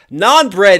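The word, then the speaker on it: naan: So non-bread, but also playing off of non-violent, like the way that he would protest, N-O-N versus non bread, N-A-A-N, Indian flat bread.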